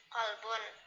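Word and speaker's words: قلب: Misalnya sama ain itu kan hurufnya beda. Misalnya kolbun, kalaunya kolbun kan artinya hati, kalaunya kalbun itu kan artinya anjing.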